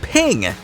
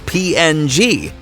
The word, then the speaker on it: PNG: the presidential motorcade passed the creator of the PNG image file format wanted it to be pronounced as ping I don't think it's